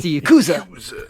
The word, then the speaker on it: Yakuza: him kill him I like the way you pronounce Yakuza the same way as IC te does it's Yakuza Yu the Yakuza yeah I don't I don't